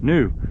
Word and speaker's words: Neusch: New. Yeah. It's pronounced, but Neusch. Yeah. Spelled Neusch, pronounced New.